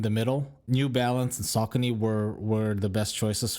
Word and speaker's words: Saucony: i ended up trying a hoka new balance saucony that's how you pronounce it and on shoes like i mentioned